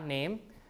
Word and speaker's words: name: a long vowel Nama name so you have n a m e name so e here which is not pronounced in Modern English right came to be